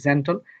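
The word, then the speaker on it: gentle: জি এর পর এসেছে জয় মারতে হবে। এটা হবে জেন্টল।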